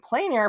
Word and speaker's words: plein air: plain air painting and plain air painting it's uh on Plain air on plan a I you know there's different ways to pronounce it in the South I'm going to say plain air but p l i